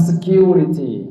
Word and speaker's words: security: Their custom security. Di Indonesia jadi satpam security. Harusnya bacanya security karena asal katanya secure, artinya aman. Secure, bukan secure.